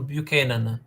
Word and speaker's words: Buchanan: the 18th century buan what was the right pronunciation bu Canan yeah bu Canan was the second of 11